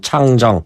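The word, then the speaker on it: 长征: 중국 당시 핵잠수함 장정 3호, 우리로만 중국 발음은 창정 네.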